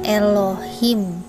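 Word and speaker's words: אלוהים: dari situ sudah tampak bahwa tulisan tadi bacaannya Elohim terjemahan bahasa Inggrisnya ga theartinya Tuhan bukan Allah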